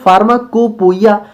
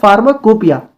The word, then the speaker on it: Pharmacopoeia: अच्छा, यहाँ पे आप लोग ध्यान से देखिए, तो इसका जो प्रोनाउंसिएशन है वो तो होना चाहिए था फार्माकोपोइया, लेकिन प्रोनाउंसिएशन इसका होता क्या है, फार्माकोपिया, ठीक है। तो आप लोग इस चीज को ध्यान रखिएगा कि इसको जो है हमारा पोइया होता है, इसको हम लोग पिया पढ़ते हैं, ओके।